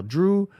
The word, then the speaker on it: Drew: up doing very well Drew your name rhymes with goo this is true very